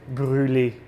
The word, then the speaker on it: brûler: onion, you have to brûler it, or brûler, like it's pronounced in French.